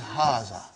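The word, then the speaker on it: هٰذَا: Haza see it is pronounced like ha. Huh? But this al if is not written. Huh? It is explained in the key also. So it is haza.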